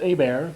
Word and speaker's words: Hebert: all right and uh his father's name was always pronounced a bear but i know uh